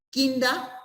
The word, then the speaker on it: Kinder: O sea, kinder en alemán, o sea, no se dice kinder, o sea, la terminación ER en alemán se pronuncia, o sea, es kinda, se quiere decir niño en alemán.